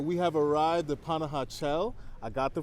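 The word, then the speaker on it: Panajachel: the time all right we have arrived the panah chel I got the pronunciation down now we're waiting for our boat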